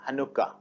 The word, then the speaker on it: Hanukkah: The pronunciation is Hanukkah. Hanukkah is a Jewish religious festival observed in December, something like Christmas.